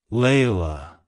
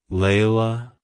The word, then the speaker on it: Layla: is a variant of the name Leila it's pronounced as Leila Leila Leila to pronounce it correctly emphasize the L Sound